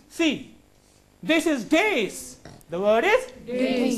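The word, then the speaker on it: dais: Dace. Generally, dace. Let him come to the dace. People say dice. That is not the dace. Correct word. Dace. What is the word? Dace.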